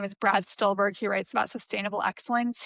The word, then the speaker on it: Brad Stulberg: Can you pronounce his name again for me? Yeah, Brad Stulberg. Stulberg. Brad Stulberg.